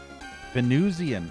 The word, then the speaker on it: Venusian: Today's special Venu Venzian Venusian. Okay. Venuian pizza. I was trying to figure out how to pronounce that in my head because it's Venus. Like Venus, the planet Venus.